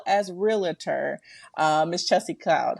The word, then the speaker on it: Cloude: and and it's pronounced Cloud right Chelsea cloud cloud in the sky yes okay yeah I